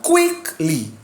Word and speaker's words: quickly: She ran quickly. Like a triangle, please, let's do it again. Quickly. You cannot say she ran quickly. Wrong. Put the force on that first syllable.